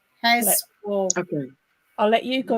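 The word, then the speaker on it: Heswall: Heswell. Heswell.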